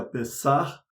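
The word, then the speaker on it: פסח: Páscoa, acho que você já sabe, em hebraico se pronuncia Pessah, e significa passagem, mas não é o único significado da palavra Páscoa.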